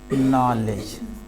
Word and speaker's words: knowledge: अब ध्यान देंगे, लेकिन रोमन में देखेंगे KNOWLEDGE, क्या पढ़ेंगे, नॉलेज पढ़ेंगे। के या नो डब्लू तो पढ़ेंगे क्या, नो, है कि नहीं।